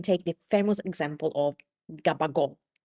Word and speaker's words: gabagool: Gabagool comes from the Neapolitan dialect, the the Neapolitan word capocollo or capocol. Now, I'm Sicilian, not Neapolitan. I'm trying to do my best with the Neapolitan dialect. But it sounds something like capocol.